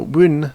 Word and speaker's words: wyn: English we call them wyn, thorn, eth, and ash. So wyn, this one that looks like a P, makes the W sound, as in its name, wyn.